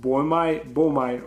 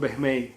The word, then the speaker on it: boehmei: This is Brachypelma emilia and this is Brachypelma boehmei, or as majority of people in hobby pronounce it boehmei or something like that. But with Latin pronunciation that I use, they are called boehmei.